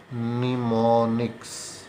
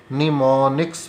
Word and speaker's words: mnemonics: निमोनिक्स, यहाँ पर M silent है, इसको MNEMONICS निमोनिक्स पढ़ते हैं, M इसमें साइलेंट है।